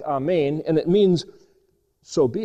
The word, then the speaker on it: Amen: word A-M-N, which is, if you put an E there, it's Amen, or the Hebrew way of pronouncing it is a little bit more like Amen, and it means, so be it.